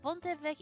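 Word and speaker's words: Pont-l'Évêque: Listen to the pronunciation of that one. Pont évêque, that is. Well, Pont évêque if we wanna be correct.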